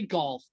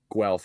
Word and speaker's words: Guelph: I can't play golf. Well, Guelph.